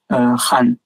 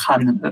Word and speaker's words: Khan: Je crois qu'on prononce Han, si je me souviens bien.